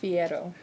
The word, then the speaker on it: Fierro: say your last name it's pronounced Fiero there we go and